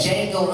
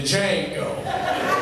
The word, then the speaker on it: Django: Barack Obama, and the Django. Dude behind him was like, the D is silent, man!